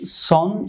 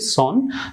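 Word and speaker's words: son: এটি উচ্চারণ করতে হবে সনের সঠিক উচ্চারণটি হবে সান, সনের সঠিক উচ্চারণ হবে সন, আমরা স্বাভাবিকভাবে সন বলি, সন বলি, তো আসলে সন বলা যাবে না, সঠিক উচ্চারণ হবে সন,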